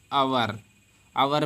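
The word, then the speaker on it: hour: वाला घंटा होता है तो इसको हम हावर हा साइलेंट राहत है आपका आवर्त पढ़ने हैं क्या पढ़ने हैं अवर मेंस घंटा तो जब भी ओके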